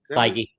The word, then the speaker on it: Feige: I don't know if Kevin, how do you pronounce his name? Feige? Feige.